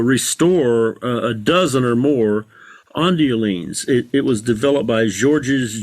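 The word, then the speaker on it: Ondioline: Ondeline, am I pronouncing that right? Yes. Wow, there's some virtuosic stuff going on there as well. Yeah, that's Jean-Jacques Perry, P-E-R-R-E-Y, playing the Ondeline presets, and that's an unaccompanied demo of many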